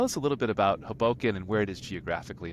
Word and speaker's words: Hoboken: Hoboken, yeah, Hoboken, emphasis on the first syllable.